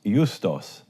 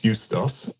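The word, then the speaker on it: Ἰοῦστος: And this is my Israeli Greek pronunciation. Jesus hologomenos Justos, right?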